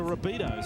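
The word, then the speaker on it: Rabbitohs: I had a few people say to me it's the Rabbitos. And I thought that that had a nice ring to it.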